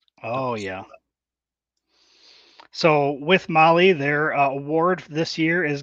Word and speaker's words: Mahle: And for all the podcast listeners out there, Molly is spelled Mahle. Oh, yeah. So with Molly, their award this year is going to be for the toughest roadside repair.